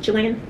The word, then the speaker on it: Chile: the other well-traveled guy, I think he was Chilean, from Chile, that's how they pronounce it, right, that's another thing we were